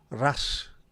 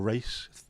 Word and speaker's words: Ras: last couple of days the RAS is how it's pronounced or race the Snowden race lunatics running